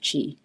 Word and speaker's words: qi: So chi means energy. It's spelled qi.